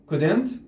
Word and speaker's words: couldn't: And we couldn't ولم نستطع understand the signs أن نفهم الإشارات أو اللوحات، نحفظ كلمة signs إشارات couldn't طبعا ال ما تلفظ نقول couldn't مترو إذا المترو مترو